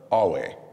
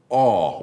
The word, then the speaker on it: Awe: Yeah, so Alway, not. And we do know how how Westerners struggle to pronounce anything that doesn't just. Yes. It's not Jessica or Brad, so. And at the very least, aw would be like, I understand that.